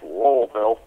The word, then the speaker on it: Louisville: enough people sit there and go no it's pronounced lville you tend to now subconsciously want to correct